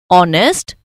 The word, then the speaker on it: honest: We also use an before words like are, honest, honorable, where h is silent.